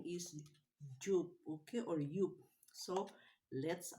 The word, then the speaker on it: Joop: This one, the name of the perfume is Joop, or in German they pronounce the J in Y. So this is Joop.